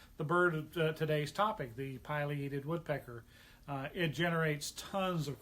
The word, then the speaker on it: pileated: whatever the rules are that it should be pileated um i've been bird watching for 35 years